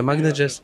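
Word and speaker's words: Magnojez: yeah dude Magna Jess am I saying that right how do I say it properly yeah Magna Jess Magna Jess thank you bro knuckles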